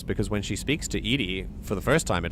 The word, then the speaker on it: EDI: so funny uh why are you named Ed Ed is the phonetic pronunciation of Eed that is an acronym for